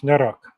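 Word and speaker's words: noroc: Noro.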